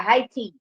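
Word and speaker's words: Haiti: now high t h a i t i high t people pronounce it very differently that's why i'm giving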